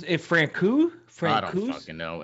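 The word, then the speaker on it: Frana: It's pronounced Francou.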